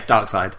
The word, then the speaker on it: Darkseid: So one of the theories I read was, and I don't know how to say this, is it Darkseid? Yeah, Darkseid.